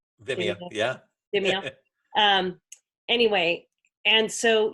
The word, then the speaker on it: Vimeo: Am I pronouncing that right? Vimeo, yeah.